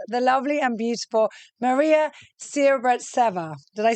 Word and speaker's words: Sibirtseva: And today I have with us the lovely and beautiful Maria Sibirtseva. Did I say that correctly? Almost, yeah. Yeah, almost. Always. Can you say it properly? Maria Sibirtseva. Okay, Sibirtseva.